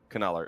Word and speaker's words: Kanaler: Yeah, Davey said there's no silent K in Dutch.